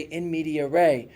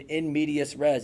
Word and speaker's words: in medias res: hey, try to consider starting your essay in media res, or if you wanted to say it with the English kind of pronunciation, in medias res. It doesn't matter.